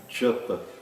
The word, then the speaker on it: japa: como JA não é jamais lido como já, mas sim J. O som já, G, Gi, Jo, Ju, não existem esses sons dentro do sânscrito. Existe J, Ji, Ji, Jo, Ju. Exemplos de palavras que utilizam esse som são japa.